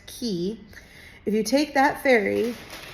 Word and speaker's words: Quay: But so the really cool thing is if you take the Manly Beach Ferry from Circular Quay, spelled Quuay, but pronounced Key.